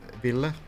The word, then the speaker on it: Villa: Uh, well, you can say villa. Villa is the pronunciation. That's my name in Finnish.